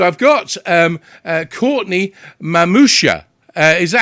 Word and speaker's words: Mamuscia: two now so i've got um uh courtney mamousha uh is that how i pronounce the last name you got it i